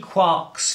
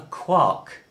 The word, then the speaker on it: quark: all beside the mark now that would suggest that since we're rhyming with bark and Mark it ought to be a quark but Gman was very clear he wanted it to be called a quark so strictly that's what we ought to call it and